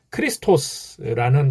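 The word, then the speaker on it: Χριστός: 크리스토스, 예수스, 크리스토스, 이게 이제 원래 성경에 그 원어 성경에 나오는 발음입니다.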